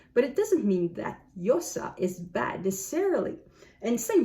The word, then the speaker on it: Llosa: So the double L is supposed to be like a Y. But I know that in certain places, this is pronounced like more like a G. So G or J, Mario Vargas Llosa.